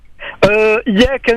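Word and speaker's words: إياك: Iyyaka na'budu wa iyyaka nasta'in. Vous avez pas mal de personnes qui ne prononcent pas la lettre forte. Donc appuyez donc le Y, ce qui fait que ça change totalement la phrase.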